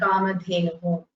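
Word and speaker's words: कामधेनुः: Strilingam, like Bhumihi and Kamadhenuhu. The Visarga at the end of Kamadhenu is silent? No, you have to pronounce it. Whatever comes, you have to pronounce it exactly as it is written.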